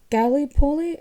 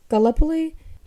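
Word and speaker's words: Gallipoli: myth Robin prior I was told that you pronounce it Gip poly and not galpo but in the current um sanman series Charles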